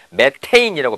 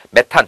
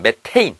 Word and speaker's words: 메테인: 2012년 2013학년도에 고2 학생인 학생들부터는 매테인이라고 배워요 원어 발음이 가깝게 배웁니다 이제 용어가 조금 정리가 되고 있어요 메탄 또는 메테인 메테인이라고 합시다 앞으로 메테인 또는 o3